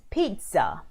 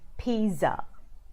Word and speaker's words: pizza: it's pronounced I know with a T in there so it's pronounced pizza rather than Pisa okay so you might